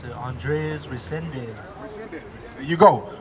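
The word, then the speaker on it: Andrés Reséndez: I can't really pronounce it. Andres Resendez. There you go, Andres Resendez.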